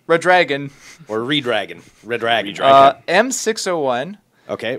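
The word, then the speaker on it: Redragon: going to justum it's red dragon it ised Dragon I think you got to run it yeah run it together a little more it's a red dragon red dragon or red dragon red dragon Dron m601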